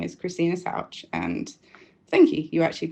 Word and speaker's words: Souch: So, yes, my name is Christina Souch and thank you. You actually pronounced that quite right.